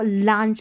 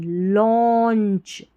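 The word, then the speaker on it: launch: Engineering या engineering before before before the अब इसको लांच नहीं लॉन्च।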